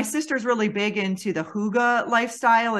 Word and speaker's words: hygge: So, for those of you, if this is new, it's pronounced hygge, I believe, but it's spelled Hygge.